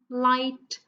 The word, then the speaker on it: light: And for our last line, whole, light, foreign, talk. So I'll just give you a few more seconds to tell me which letter is silent in each of the words, okay?